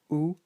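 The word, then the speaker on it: où: mistaken and this is this word which is pronounced ooh so like the sound of poo and it means we're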